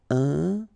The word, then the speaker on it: important: So final T not pronounced. And then remember, you've got this EM, and after that it's a consonant, so it is here nasal. Important.